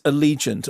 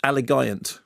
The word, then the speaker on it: Allegiant: the Divergent series Allegiant or as you pronounced it when you did the when you read it off the list alant yeah well there are some the hardcore actually